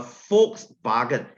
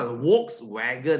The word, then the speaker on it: Volkswagen: f W is pronounced as V so it's a false bargain okay it's a folks bargain it's not a Volkswagen huh please don't say Volkswagen this is very cringy it's Volkswagen okay Fox is people bargain is car so Volkswagen is people's car right don't say Volkswagen